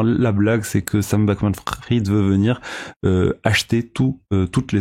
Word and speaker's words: Bankman-Fried: Et enfin, en parlant toujours de Sam Bankman-Fried, là, a priori ça se prononce Sam Bankman-Fried, pas Fried, ce milliardaire de la